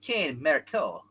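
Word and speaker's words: Cain Marko: He's pronounced Kane Marco.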